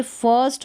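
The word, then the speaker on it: first: और इसमें जो आई आ रहा है ना, उसका उच्चारण अ करके होगा, लॉन्ग साउंड अ। जैसे फर्स्ट हो गया, फिस्ट नहीं होगा, फर्स्ट, बर्थ, शर्ट, गर्ल और स्कर्ट, अ का उच्चारण होगा, लॉन्ग होगा इस आई के लिए।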